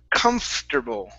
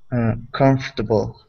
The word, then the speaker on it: comfortable: of them so uh words that are spelled one way and pronounced another okay so this word instead of being comfortable okay the word is pronounced comfortable oh comfortable there you go one